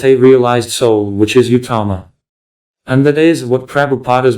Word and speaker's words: uttama: Prabhupada's books clearly state that the guru must be an uttama. What does the word uttama mean? It consists of two syllables. Ut and tama.